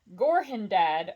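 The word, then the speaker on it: Gorhendad: Brandy bucks long ago Gorham dad old buck it is literally spelled g-o-r-h-e-n-d-a-d so I'm going to pronounce that Gorham dad which makes me giggle anyway moving on long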